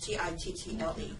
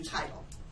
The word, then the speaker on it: Tittle: Tittle, Tittle, rhymes with little, which I'm not. Thank you. I always like when people smile at a little joke. But at least they don't call me Title.